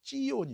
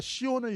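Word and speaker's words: 시온: 예루살렘과 c5 이시원 은 원래 발음은 시원이 아니라구요 치 온 이었지요 예루살렘과 시원을 향한 하나님의 열심 대상이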